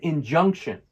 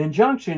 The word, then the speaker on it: injunction: Stress is on the middle syllable.